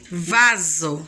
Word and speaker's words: vaso: Mas quando eu vou pronunciar, Dani, eu falo o som que vai sair da nossa boca é C ou Z? Z, vaso. Então eu vou falar vaso. Não é vaso.